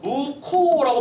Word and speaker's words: 묵호: 이래서 무코도 발음은 어떻게 하죠? 무코라고 발음을 하잖아. 근데 이 녀석은 묵호, MUK-HO 이렇게 쓰면 되는 거야.